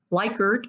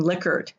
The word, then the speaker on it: Likert: semantic differential questions or likert or liquored and 80 percent of those answering a survey said it was pronounced likert the originator of the scale pronounced his name lickard you choose what you